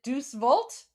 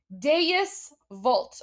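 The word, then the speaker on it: Deus Vult: Is it douchevolt? Duce vault. Is that Is that how you pronounce it? Oh my gosh, I'm totally embarrassing myself right now. Is that how it's pronounced? I don't know. I've never actually like I've read it, but I know it's Latin, so I I don't know if I'm pronouncing it. Oh, deis. There we go.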